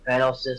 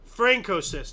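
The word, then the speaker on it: Francoist: Fanosis, Spain. How you say it? It's supposed to be Francosist. I forgot to put in the R.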